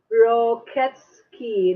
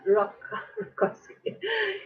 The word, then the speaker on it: Roketsky: D is pronounced Roketsky, not Rokowski.